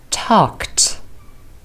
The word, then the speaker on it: talked: arrived visited Ed is pronounced as ID visited talked Edie is pronounced as test number two how do you